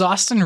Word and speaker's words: Austin: Hi everyone, my name is Austin, rhymes with Boston, and today we are reviewing Guardians of the Galaxy, Volume 3.